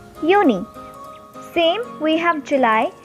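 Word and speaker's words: Juni: is called as my so far you know already that j is pronounced as y in german so the next month which is june in german it is called is uni same we have july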